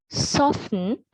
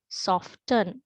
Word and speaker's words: soften: Sometimes I have heard some say listen, soften, often, but that is incorrect, right?